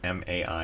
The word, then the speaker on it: Mai: Also, Jason, you know that if a Japanese name is spelled M-A-I, it's pronounced Mai, right? Oh, I did not know that. Yeah, the Japanese vowels are very consistent, and they are very picky about that.